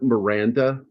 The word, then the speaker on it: Miranda: It's Robert Miranda, like Miranda rights.